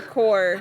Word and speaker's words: Corps: yeah but for for core you just say core without the P you think there would